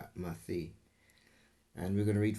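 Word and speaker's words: ܡܬܝ: In the Hebrew, it's Mathi. That's how we would pronounce his name in Aramaic, Mathi.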